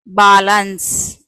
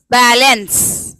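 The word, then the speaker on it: balance: ಒಂದ್ಸಲ ಬಾಲನ್ಸ್. ನಿಮ್ಗೆ ನೋಡ್ರಿ ಈ ವರ್ಡ್ ಎಲ್ಲಾದ್ರೂ ಕೇಳಿರ್ತೀವಿ, ಕೇಳಿಲ್ಲ, ಸೊ ರಾಂಗ್ ಆಯ್ತು. ನೆಕ್ಸ್ಟ್ ಇನ್ನೊಂದ್ಸಲ, ಇನ್ನೊಂದು ಏನಿದೆ ಉಚ್ಚಾರಣೆ? ಹ್ಮ್, ಏ ಇದೆ. ಬೇ ಲೇ ಎನ್ಸ್, ಬೇಲೆನ್ಸ್. ಬೇ ಎ ಅನ್ನುವ ಉಚ್ಚಾರಣೆ ತಗೊಂಡಿದ್ದೀವಿ. ಬೇ ಲೇ ಎನ್ಸ್, ಬೇಲೆನ್ಸ್. ನೋಡ್ರಿ ಇದು ಕೂಡ ಸ್ವಲ್ಪ ಹತ್ರ ಹತ್ರ ಅನ್ನಿಸ್ತಾ ಇದೆಯಲ್ಲ. ಇನ್ನೊಂದು ಯಾ ಕೂಡ ಇದೆಯಲ್ಲ. ನೋಡ್ರಿ ಬ್ಯಾ ಲ್ಯಾ ಎನ್ಸ್, ಬ್ಯಾಲೆನ್ಸ್, ಬ್ಯಾಲೆನ್ಸ್, ಬ್ಯಾಲೆನ್ಸ್.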